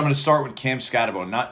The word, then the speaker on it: Skattebo: So now Cam Skattebo, or Skattebo, I'll have to talk to him about what is the pronunciation. I believe it's Skattebo, even though it's only one O, it doesn't make much sense.